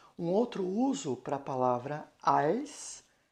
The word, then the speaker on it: als: eu trabalho como professor de alemão tá então als deut L tá então esse als se escreve com a l s n Então tá